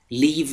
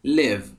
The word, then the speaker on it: live: به تلفظ کلمه live دقت کنید. Where do you live؟ live نیستا، live. I live in Paris.